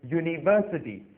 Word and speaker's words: university: एन नहीं लगाएंगे क्योंकि ये शब्द जब शुरू होते हैं तो य से शुरू होते हैं, ना कि वावल यू से।